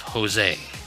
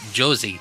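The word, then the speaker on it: José: You have Jose. Yep. It's a J, not an H. But if we were to pronounce it using English phonetics, it'd be Josie. Yep.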